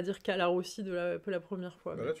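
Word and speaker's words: Colarossi: Pas obligé de prononcer tout le temps à l'italienne. Hein. Calarossi. Non, mais je le prononce en français. C'est juste que j'ai du mal à dire Calarossi. Je vais y arriver au bout d'un.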